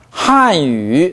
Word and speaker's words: 汉语: 왜 이렇게 발음하냐면 한语 하면 하 류로 중국인은 알아들어요. 그러니까 N 발음이 가장 음절이 마지막에 오고 그 다음 발음이 첫 음절이 모음이 되면 N 발음은 비음으로만 존재합니다. 한유 해보세요.